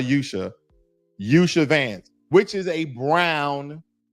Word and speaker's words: Usha: And for the sake of argument, okay, and pronunciation of her name, we can call her Yusha Vance, which is a brown Indian.